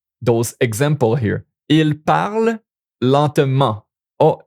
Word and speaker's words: lentement: Il parle lentement. Oh, this is an ENT here, but it's pronounced because it's an adverb. It adds to the verb. It's not a verb.